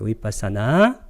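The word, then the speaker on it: vipassanā: 위빠사나. 정확하게 쓰게 되면 위빠사나 이렇게 길게 발음해요. S가 두 개이기 때문에 여기다 시오자를 하나 붙여줘야 돼요.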